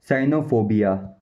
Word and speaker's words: cynophobia: और जो scientific meaning होता है उसमें होता है साइनोफोबिया।